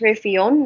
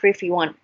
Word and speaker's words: Revyon: It is pronounced Revyon, not Revyon.